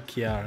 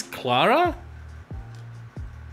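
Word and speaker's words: Klara: plus hp all right that's an ellen kiara not an i wha oh it's clara wait is it have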